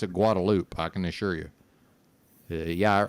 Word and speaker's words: Guadalupe: no I can assure you it the locals pronounce it guadaloop I can assure you yeah I realized it's